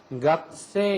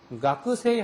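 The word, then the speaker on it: 学生: 그래서 각그가 없어지는 건 아니고 한 30% 남아서 각세 이렇게 되는 겁니다. 각세. 근데 규슈나 저쪽 남쪽으로 가면 아직도 가크세 이렇게 발음하는 사람이 있어요. 그러니까 가크세이가 틀린 게 절대 아니에요. 지역에 따라서는 가쿠세이 하는 사람도 있고 각세 하는 사람도 있다는 겁니다.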